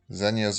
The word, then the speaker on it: Zegna: guillo i'm sure or guido uh zegna but zenya makes some amazing ties